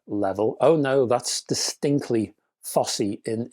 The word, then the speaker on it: Fosi: And that's how you pronounce the name of this company FSY.